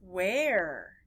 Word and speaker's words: where: And where, we don't say Eddie Elephant, We just don't say it that way. It's where. It doesn't follow the pattern with the ER.